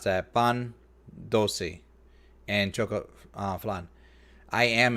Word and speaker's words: pan dulce: Oh, that she brought all that cannolis, tiramisu, pan de los dulce. Okay, I just mispronounced that. Pan dulce and choco flan.